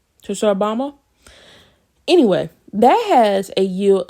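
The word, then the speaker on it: Tsar Bomba: that Russia has the tashu Obama um I think I'm pronouncing that semi-correctly uh t-s-a-r space b-o-m-b-a Church Obama anyway that has a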